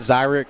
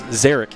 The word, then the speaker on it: Zarek: I got to meet him earlier, but it's not Zyrick. It's Zarek Hill.